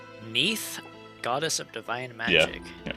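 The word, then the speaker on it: Nieth: Neath. Goddess of divine magic. Like Keith, but with an N. Yeah, I'll spell it. N I E T H.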